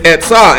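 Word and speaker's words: עצה: When we look at counsel, it's etzah, and it's your advice or your purpose. We can go ahead and spell that for him. Put etzah out there.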